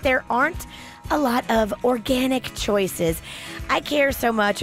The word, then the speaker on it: Organyc: the complete protection of organic feminine care products. Now, it's 100% certified organic cotton throughout all of their products. Organic, spelled with a Y, so it's ORGANYC, is authentic and it's pure.